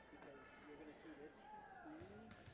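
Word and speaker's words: Steem: She goes by Maddie Steam, like Steam, so S-T-E-E-M. Okay. But that can also be pronounced Steam or Stena. It depends what town. In this town, it's same too. She just goes by Steam.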